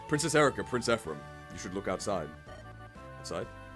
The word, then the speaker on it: Ephraim: film making is really weird princess Erica Prince epim wait that's not right princess Erica Prince Ephraim you should look outside outside wow opening day